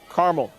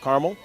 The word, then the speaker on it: Carmel: Your first thought when you see the words of Mount Carmel, that's the way you want to pronounce it, but I guess it's Mount Carmel, like the Carmel, California.